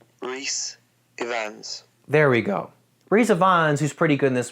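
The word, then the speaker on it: Rhys Ifans: or three brief scenes that he was in Rise of Fons I think that's how you say his name wait for it re Ians there we go ree Ians who's pretty good in this movie plays CIA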